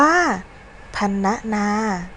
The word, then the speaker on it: พรรณนา: พรรณนา อ่าน ว่า พรรณนา คำ ว่า พันธุ์ มี พยัญชนะ นอน เอน ซึ่ง อยู่ ใน ตัว สะกด มาตรา กน ตาม หลัง ร หัน อยู่ ดัง นั้น เรา จึง อ่าน ออก เสียง พัน เป็น เสียง สระ อะ และ ตาม ด้วย เสียง ตัว สะกด มาตรา กน ค่ะ คำ ที่ 3 สรรพคุณ